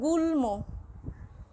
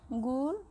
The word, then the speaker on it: গুল্ম: যদি আমরা বলি গুল্ম, গুল্ম, গুল্ম, দেখো লয়ের সাথে মফলা যুক্ত রয়েছে কিন্তু মফলার ময় উচ্চারণটা হচ্ছে গুল্ম।